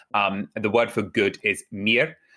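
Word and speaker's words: mirë: The word for good is mir. It's spelled like the English word Maya, but pronounced mir.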